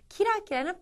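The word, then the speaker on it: キラキラ: 기락기라 하면은 번뜩거리다 또는 뭐 이글이글 눈빛이 타오르다 뭐 이렇게 얘기할 수 있는데 발음을 보면은요 키라키라 기락기라 즉 허진 비슷한데 발음이 조금 달라짐을 해서 엄청나게 큰 어감의 차이를 가지고 오지 않습니까?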